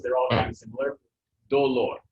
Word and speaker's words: dolor: So where's the accent? Do or lor? Yep, dolor. But if I say dolores, it stays on that one, but it's only because it's the second to last syllable.